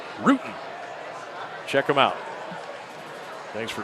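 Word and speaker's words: Rutan: Pronounced Ruden.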